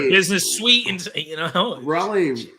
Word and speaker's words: Raleigh: sweet and you know raleigh rhymes with mahali and holly which is kind of